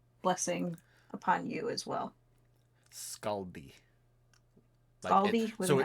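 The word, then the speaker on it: Skadi: Scaldi So, it's spelled S K A D I, but it's Norse spelling, so it's pronounced S S K A L D I.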